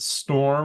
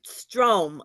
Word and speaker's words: Strom: Was it Strom or was it Storm or what was it? It was Strom with a long.